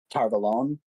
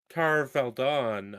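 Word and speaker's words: Tar Valon: Yeah, But or like for example, like in territory that's friendly to them, such as Shianar or Tarvalon.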